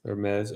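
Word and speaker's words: Hermès: how to say it it's Hermes fragrance Hermes oh delicate yes but no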